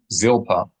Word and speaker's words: Zilpa: The L sound in Hebrew, no matter where it is in a word, is always produced in the way that it is pronounced at the beginning of a word in English. So not zilpa, not zilpa, but zil, zil, l. Tip of the tongue toward the top teeth, top front teeth. Zil, zilpa, zilpa, zilpa.